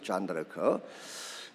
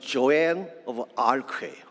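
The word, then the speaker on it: Jeanne d'Arc: 존 다르크. 불란스식으로는 존 다르크라고 이렇게 발음을 하지만 영어식으로는 조앤 오브 아크예요.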